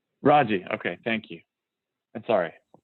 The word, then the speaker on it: Rojee: Rosie, and am I pronouncing your name right? It's pronounced Raji. Raji, okay, thank you.